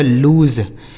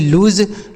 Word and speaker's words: lose: आगे लिखा है LOSE से पढ़ा जाएगा लूज, LOSE लूज, लूज मतलब होता है बच्चों हारना।